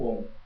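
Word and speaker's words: AUM: verbo sagrado a um cuja a pronúncia é om veja bem a escrita não é H vocês não é não se escreve assim escreve a u m que simboliza a Trindade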